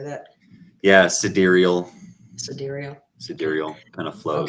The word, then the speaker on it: sidereal: Yeah, sidereal.